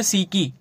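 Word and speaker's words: psyche: उसके बाद नेक्स्ट है सीकी ठीक है इसे साइक भी आप बोल सकते हो लेकिन इसका करेक्ट प्रोनाउंस सीकी होता है पीएस वाई सी एई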